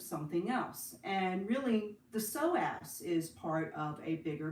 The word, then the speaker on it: psoas: we would focus on the psoas muscle psoas is spelled p-s-o-a-s psoas and it's a very important complex hip